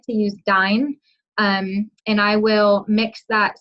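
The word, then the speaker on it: Dyne: I would tell you to start Dine at this point. And Dine is just a liquid fat. It's spelled D-Y-N-E.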